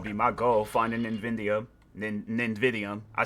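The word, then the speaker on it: Nividium: Nvidium.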